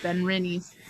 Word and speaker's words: Benrinnes: Yes, Benrinnes.